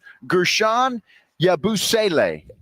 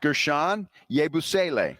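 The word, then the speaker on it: Guerschon Yabusele: It is uh it's pronounced Gershan Yabusle. Uh-huh. Gershan Yabusle.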